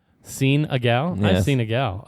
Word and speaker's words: Senegal: pronounced differently. It's Senegal. Seen a gal?